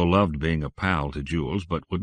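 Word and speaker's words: Joule: changed my name today it's Jewel from now on that's spelled j-o-u-l-e okay Jewel nothing for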